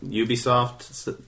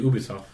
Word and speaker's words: Ubisoft: because they're French. French would be Ubisoft. It's they pronounce it Ubisoft.